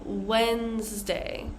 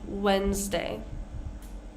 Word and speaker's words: Wednesday: these are good ones first we have Wednesday so the first D is silent Wednesday sandwich handsome Edge Bridge